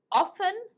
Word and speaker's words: often: you did a scientist often do you see the t is silent it's not often often